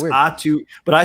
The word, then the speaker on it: Aatu: Right, but I know the last name rhymes with the first name, so it's weird. Atu.